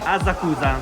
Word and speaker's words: Asakusa: to me I really have to go to Asakusa Ticket I can't find the platform I've climbed enough stairs for now and everything around here is so uniquely Japanese Ok, here we are Asakusa which is actually pronounced Asakusa, I found out the plan Is